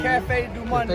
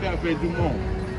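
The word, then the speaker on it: Café du Monde: Cafe du Monde. Oh, Dumont. Cafe du Monde. Yeah, the E is silent.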